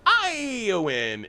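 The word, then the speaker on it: Éowyn: It's pronounced Iowin and Iomir.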